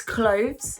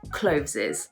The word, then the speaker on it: clothes: a really simple one it's clothes not closes here a lot of people they think clothes is the single and so when they make it plural they say closes makes total sense if